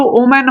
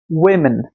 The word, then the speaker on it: women: এর উচ্চারণ কিন্তু ওম্যান হবে না, বারবার বলছি, উচ্চারণ কিন্তু ওয়েমেন। কি হবে? ওয়েমেন। ঠিক আছে, অনেকে উইমেনও বলে, তো আমরা এটাকে ওয়েমেন বলবো।